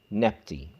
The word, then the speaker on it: Nebty: And to be pronounced as a dual, it becomes Nebty.